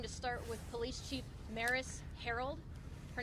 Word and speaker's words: Maris Herold: We're going to start with Police Chief Maris Herold. Her name is spelled MARISHEROLD.